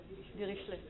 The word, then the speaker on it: Dirichlet: So how would the French pronounce it? Dirichlet.